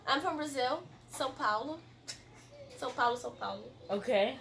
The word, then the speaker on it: São Paulo: São Paulo.